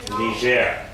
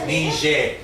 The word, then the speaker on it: Niger: you're going to say Niger, right? Yeah. This is their French way of saying it. This is actually a French word, and it's pronounced Niger.